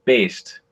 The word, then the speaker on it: Baest: tell you i'm really bad at uh it's pronounced based okay that's that's what i was going to